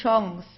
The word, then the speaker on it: Chance: In this case, it's a French word, so we pronounce it the French way, die Chance. Okay, we don't say Chance or Kanze or anything like that. We say Chance.